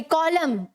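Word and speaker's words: column: नहीं क्या बोलते हैं मिथ एक कॉमन सॉरी कॉलम ठीक है तो यहां पर एंड साइलेंट है एवं नहीं इन साइलेंट है वैसे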